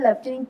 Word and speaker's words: लेफ्टिनेंट: और लेफ्टिनेंट जी सर सर लटिनेंट लिखते हैं लेफ्टिनेंट प्रोनाउंस करते हैं यस सर ओके निगीशा